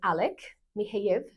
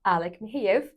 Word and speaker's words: Alek Michejev: Today, we're having a conversation with Alek Michejev. Did I say it right? Yes, you did. Alek Michejev.